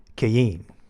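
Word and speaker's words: Qayin: right so c-a-i-n-k now kane in english is keyin or q-a-y-i-n and that's on the strong's uh h7014 and in hebrew that's a child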